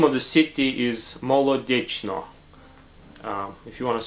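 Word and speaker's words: Molodechno: Soviet Union the name of the city is mole addiction or if you want to spell it mo l eau de CH n as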